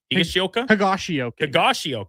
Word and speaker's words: Higashioka: So the Texas Rangers, whose two catchers, including former Blue Jay Danny Jansen and the guy whose name I can never pronounce, Kyle Higashioka. Higashioka.